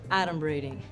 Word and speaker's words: adumbrating: Okay, first of all, it's pronounced adumbrating.